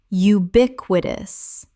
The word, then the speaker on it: ubiquitous: ephemeral ephemeral Word 255 ubiquitous common mispronunciation ubiquitous correct pronunciation ubiquitous four syllables with the stress on the second It means appearing everywhere.